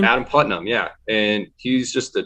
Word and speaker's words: Adam Putnam: election wasn't that adam putnam is how you pronounce his name adam putnam yeah and he's just a typical good old